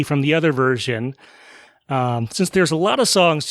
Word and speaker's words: Cyn: So one of those is a musician called Sin. It's spelled C-Y-N.